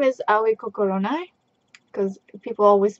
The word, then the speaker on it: Aoi Kokoronai: And my name is Aoi Kokoronai, because people always pronounce it wrong, so people call me Aoi.